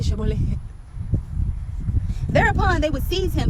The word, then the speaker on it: Shibboleth: And if he said no, Then they would say to him, say Shibboleth. But he would say Sibboleth, not being able to pronounce it correctly.